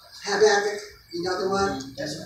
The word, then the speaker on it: Habakkuk: Out of all the scriptures that I did, Haggai, not Haggai, but Habakkuk. I can't say it right. Habakkuk. Habakkuk.